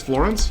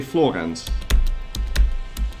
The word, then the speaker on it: Florence: Is Florence pronounced the same as Florence? Yes. Well, yes. But that's the English way of pronouncing it. In Dutch you would say Florence.